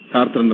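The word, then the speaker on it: Sartre: ಒಂದು 2 ವಿಷಯಗಳನ್ನ ಇಲ್ಲಿ ಪ್ರಸ್ತಾಪ ಮಾಡೋದಾದ್ರೆ, ಈ ಸಾರ್ತ್ರೆ ಅಂತಾರೆ, ನಾನು ಸಾರ್ತ್ರ ಅಂತ ಉಚ್ಚಾರ ಮಾಡ್ತೇನೆ.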